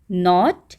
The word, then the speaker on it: knot: Sound is same, दोनों की sound same है, प्रोनाउंसिएशन सेम है, हील हील, तो यहाँ पर इसको हम सर्कल नहीं करेंगे। Then नॉट एंड नोट, okay, KNOT नॉट, गांठ बांधना, और